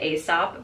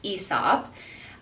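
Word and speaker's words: Aesop: cohesive so I also got ESOP I always pronounce it asop but I've learned it's pronounced ESOP uh I got it also for this bathroom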